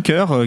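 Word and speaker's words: Kur: En fait, il produit un autre rappeur, ce producteur qui s'appelle Kerr, ça s'écrit K-U-R.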